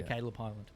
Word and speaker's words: Kaileb Hyland: so what's the handle so my name spelled a bit funny it's cuz my mom's a dyslexia hippie so it's spelled k a i l e b and then Highland so just all one word h y l a n d so Caleb Highland look up Caleb Highland